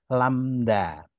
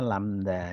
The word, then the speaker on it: lambda: atau variabel artifisial ya ini membacanya lamda ya lamda ini bacanya lamda ya Oke jadi u ya